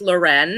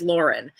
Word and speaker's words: Lauren: and so that is and it is not pronounced Lauren it is Lauren unfortunately I loved it I would like to